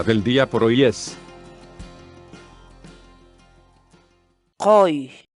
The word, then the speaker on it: quy: de videos en la que te enseñamos a pronunciar algunas palabras en quechua. Así que nuestra palabra del día por hoy es qoy, qoy, qoy, la palabra quechua.